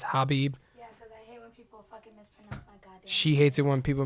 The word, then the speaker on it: Khabib: khabib habib nur number madoff i always say khabib i don't know why i say that and my wife corrects me all the time it's hobbie she hates it when people mispronounce her name